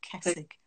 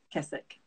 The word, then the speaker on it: Kessig: It is Kessig. Kessig. Thank you. That's Hungarian. Always... Yeah. Oh, Hungarian. Okay. Well, Hungarian origins, but it looks like Kessig, but it's Kessig.